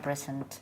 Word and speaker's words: present: In most cases, it's actually z.